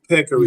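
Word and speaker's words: peccary: Let's kill these Now, I don't know how to pronounce this word, but I'mma try. I might butcher it. Peckery. Okay. Peckery.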